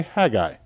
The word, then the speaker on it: Haggai: as Hagi this name that's how we say it Hagi I don't know with a Southern accent and if you go more to the west or to the north you say hagi but the proper way to say it is Hagi or if you want